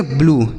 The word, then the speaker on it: blue: True true, BLUE तो इसे हम पढ़ेंगे ब्लू, क्या पढ़ेंगे ब्लू।